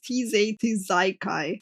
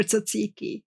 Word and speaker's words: tzatziki: Like, come on, who actually in their right mind pronounces tizay tizaikai for tzatziki? Like, I don't think there's a single fucking person that would do that, man. Germans did. My German friend can properly pronounce tzatziki.